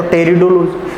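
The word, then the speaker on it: Pteridology: टेरिडोलॉजी, अब इसमें P silent है, आगे लिख रखा है, पी को अगर हम साइलेंट करें तो टेरिडोलॉजी, अर्थात टेरिडोलॉजी के अंतर्गत टेरिडोफाइटा का अध्ययन किया जाएगा।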